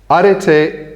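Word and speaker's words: ἀρετή: Did I pronounce that right, Mirto? Arete? Erasmian or not? No? Arete.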